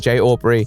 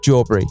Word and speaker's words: J Aubrey: It's been really cool building public bonds with fantastic creators like Primink and Jay Aubrey, which is the only time I plan on pronouncing his name correctly. It will be Jawbury for eternity.